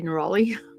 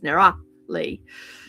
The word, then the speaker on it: Nerali: And Nerali, some people say Neroli. It's like, no, that's Nerali.